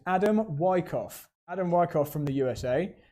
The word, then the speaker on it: Adam Wyckoff: I'm glad I checked the pronunciation of this driver's name. It's Adam Wyckoff.